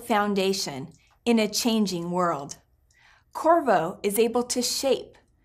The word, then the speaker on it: Qorvo: chorus core and voyage Corvo this is a name that is different it's intriguing I invite you to say it with me Corvo please pronounce the Q like a K for trademarking and other